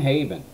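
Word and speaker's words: Habyan: They're going to go to Steve Farr, John Habian. I don't care how you pronounce it. It's spelled H-A-B, you can't see it, Y-A-N, Habian. That's what I'm going to call him, John Habian.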